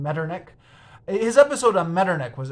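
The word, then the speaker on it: Metternich: a lot uh he he says that he's going to pronounce it mirernish uh because of his German fans but then it turns out uh that in the in the next episode he has to apologize because apparently he's not pronouncing it right so I'm just going to avoid all that and just go with the traditional English pronunciation medernick his episode on meternik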